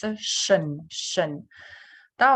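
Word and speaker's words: -tion: So we read the suffix as shen, да, в зависимости от буковки, которая перед ним идет.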